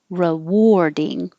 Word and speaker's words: rewarding: crazy english spelling but the a in here sounds like an or rewarding and the war sounds like i wore this yesterday and the same as war war rewarding and 49 is spelled